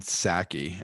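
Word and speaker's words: Psaki: white house press secretary jenn sackey i think that's how you pronounce her name even though there's a p at the beginning this is the stupid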